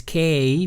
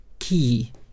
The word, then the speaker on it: key: It's not, I know it may sound like it is K, but it's not K, it's key. E and Y pronounce E long, so the key points.